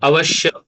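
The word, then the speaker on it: अवश्य: sh and ya comes, sometimes by mistake we pronounce like sh, double sh. Okay, avashya. Okay, so we have to keep in mind that there is ya, and therefore ya should be heard clearly.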